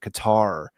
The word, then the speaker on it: Qatar: Qatar also rhymes with Mumar as in Mumar Gaddafi.